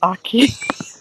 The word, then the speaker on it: Aki: You've been saying their name wrong. It's Aki.